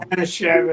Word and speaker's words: Manischewitz: Menishewitz? How do you pronounce that, Neil? Manischewitz.